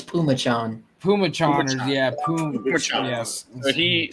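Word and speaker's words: Phommachanh: didn't look like salmicon python fomicon no it's pumachan Puma Chargers yeah yes he so he had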